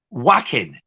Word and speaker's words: Joaquin: played Joker because I can't pronounce it either Phoenix's brother Joaquin Phoenix whacking Joaquin yes good job his surname isn't off